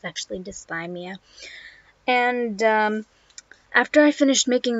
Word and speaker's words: dysthymia: about dysthymia I was pronouncing it wrong I pronounced to see Mia it's actually dysthymia and after I finished making the video I